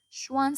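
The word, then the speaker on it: Schwann: هيدي الأس ما بتنطق، شوان سيل.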